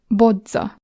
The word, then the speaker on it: bodza: Or bodza.